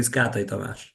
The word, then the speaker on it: Kátai Tamás: So it is officially Kátai Tamás.